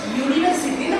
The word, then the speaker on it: university: MP an honest man a university ஏன்னா யூனிவர்சிட்டின்னு pronounce பண்ணுவோம் யூனிவர்சிட்டி இல்ல யூ ஸ்பெல்லிங்கா இருந்தா கூட யூனிவர்சிட்டி யூனிவர்சிட்டி யூனிஃபார்முக்கும் அதேதான் யூனிஃபார்ம் ஏன்